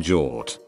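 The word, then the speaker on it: hjort: as deer in norwegian jort as the G and H is silent so whenever I say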